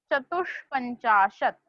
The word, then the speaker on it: चतुष्पंचाशत: सारे स्पेलिंग के बाद नाउ we have a spelling चतुष्पंचाशत। श, षटकोण वाला श इज देयर, चतुष्पंचाशत।